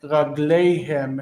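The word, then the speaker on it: רגליהם: He also was saying ragleihem and divreihem. But the stress is on these heavy endings is on the end of the word. Ragleihem, divreihem.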